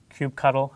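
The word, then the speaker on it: kubectl: We've got here is cubectl, cube cuddle. I've heard different ways of pronouncing that, but uh using that we're going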